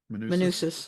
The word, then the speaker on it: Manousos: Manousos.